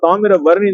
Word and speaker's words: தாமிரவருணி: தமிழ்ல மருகும் போது நம்ம தாமிர வரணி தான் சொல்லும் ஏன்னா காப்பர் கன்டென்ட் தாமிர சத்து நிறைய இருக்கு இந்த நீரில் இருக்கிறதுனால தாமிர வரணி தாமிரம் வரும் நீர் தாமிர வரணி அப்படிங்கிற மருவி வந்திருக்கு நீங்க ஒரு பெயரை தவறாக